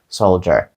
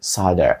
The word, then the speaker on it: solder: це не солдат Отже це слово вимовляється як Ser Ser це американська вимова якщо ми потрібна британська вони кажуть майже так само як і пишеться solder solder А от американці кажуть sider Отже sider означає паяти